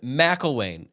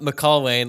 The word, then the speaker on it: McElwain: Central Michigan is coached by Jim McElwain, not McElwain, like I said in the season preview podcast.